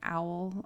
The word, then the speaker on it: awl: I believe it's called like a fine beating owl, or is that how it's pronounced? It's spelled AWL.